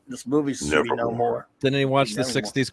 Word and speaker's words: Namor: He says Namor. It says Namor. No more. Yeah, no more is what it should be called. This movie should be no more.